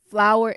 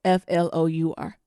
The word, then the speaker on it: Flour: Flower, because it's a boy. Flour. Fuck. Like the pantry ingredient.